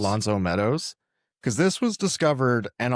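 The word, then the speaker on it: L'Anse aux Meadows: So I wanted to ask, because I didn't do, and you're better at pronouncing French words than I am. What was this place? Lonceau Meadows. Lonceau Meadows.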